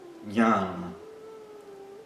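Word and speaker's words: ज्ञान: E observem que a transliteração pode nos confundir, por olhando a transliteração, a nossa tendência seria pronunciar como dian dian. Dian. E é mais parecido com um G seguido pelo N con gan, ghan.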